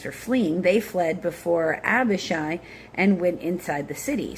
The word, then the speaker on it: Abishai: He put the rest of the men under the command of Abishai. This I do also know the one I know I'm pronouncing right.